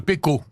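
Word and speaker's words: Pequod: Oui, ou Pécode, ça dépend Non, non, comment on on dit le prononce. Pécor. C'est 19e. Je pense d'ailleurs qu'on prononce le D quand on le prononce dans sa langue originale.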